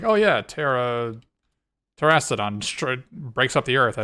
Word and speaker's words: Terastodon: Oh, it's Terastodon, right? There's no. Oh, what? How is it pronounced? Or how's it spelled? Terastodon? Oh yeah, there's only one R in it.